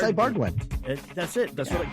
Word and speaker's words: Ibarguen: Man, why can't I remember how to pronounce this guy's name? Ed Ibarguen. It's Ibarguen.